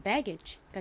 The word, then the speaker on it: baggage: 자, 읽어보면 BA는 bear, 그리고 G는 두 개 와도 기역 소리 나고요. AG가 age 소리가 나니까 연결하면 baggage가 되죠. baggage.